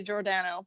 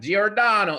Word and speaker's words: Giordano: I literally just say Giordano, but Giordano. that's welcome as well. So that Jordan. See works. that it sounds so like so waspy when I say it like that. Giordano, like that. Yeah. That's the Calabria side of me comes out.